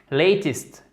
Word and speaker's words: latest: Latest, latest. Ça se prononce comme un I, d'accord?